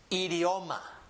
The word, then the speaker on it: idioma: Only difference is that this one always produces the sound E. So in this word, we would have E, D, O, ma. Idioma. Idioma. Read it with me. Idioma. Again. Idioma. Idioma. Idioma. That's the pronunciation of that word.